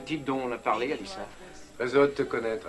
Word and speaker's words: Alicia: Ah oui, c'est très courageux, Alicia. Ça se prononce Alissa. Oh, je suis désolé. C'est intéressant, Alissa. Et oui, je croyais que c'était Sia. Ah. Mais Alissa, il n'y a pas de Sia.